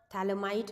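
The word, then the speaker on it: Phthalimide: हैं that is Gabriel थैलमाई synthesis ठीक है थैलमाई के अंदर पीएच आपका साइलेंट होता है इट्स अ थैल इमाइड सिंथेसिस रिएक्शन ठीक है नाम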